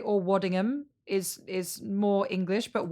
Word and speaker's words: Waddingham: pronouncing your name correctly as a british person would i americans we hit the like wadding ham i'm assuming you know what i don't mind the thing that i love about americans you always check in about how it's pronounced and waddingham is just great or waddingham is is